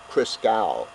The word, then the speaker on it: Christgau: is a gentleman, John, and I may be pronouncing his name incorrectly, Christgau, C-H-R-I-S-T-G-A-U, John.